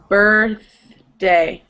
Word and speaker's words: birthday: okay so yesterday yeah so the problem is getting from er to earth earth day birthday yes perfect perfect and then the last one it was the same problem getting from er to the th sounds again perfect okay okay